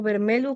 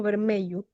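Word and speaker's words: vermelho: Una duda antes, el vermelu se pronuncia como vermelu, como vermello. Eh, están las dos las dos formas. Lo que pasa es que el fonema LH en alguna zona se pronuncia como una L y en otras zonas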